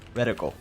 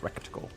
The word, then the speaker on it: reticle: Reticle, not recticle.